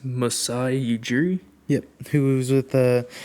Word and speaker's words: Masai Ujiri: I think it's Masai Ujiri.